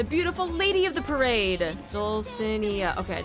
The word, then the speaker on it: Dulcinea: Dulcinea.